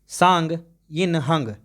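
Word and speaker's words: Tsang Yin-hung: किस देश की पर्वतारोही सांग यिन हंग, देखिए दोस्तों यहाँ तो टी जो है साइलेंट है, इसको पढ़ेंगे सांग इंग यिन हंग ने दुनिया में सबसे तेज एवरेस्ट पर चढ़ाई करने का रिकॉर्ड बनाया है।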